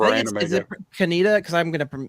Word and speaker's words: Kaneda: Is it Kaneda? Because I'm going to mispronounce it. Kaneda? Kaneda, yeah.